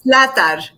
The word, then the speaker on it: Zlatar: knew i was going to mess it up zlata slatter can you please pronounce your last name for us latar it's a hard one it's a hard one